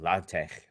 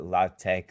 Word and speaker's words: LaTeX: the x should be pronounced like in german like bach so technically you're supposed to call it latte but that's like weird so nobody actually some people do if you want to be like a super nerd um but most people call it la tech or latex it's it's weird so